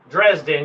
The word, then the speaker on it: Dresden: Dresden, yeah.